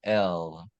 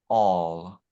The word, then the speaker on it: El: These two letters together, Aleph, the ox, and Lamed, the ox goad, form the God name El. It can also be pronounced all, right?